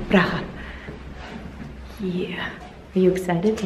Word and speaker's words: Praha: I think you should say it like the Eastern European way, Praha.